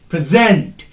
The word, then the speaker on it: present: When present is used as a verb, the second syllable will be stressed. Present.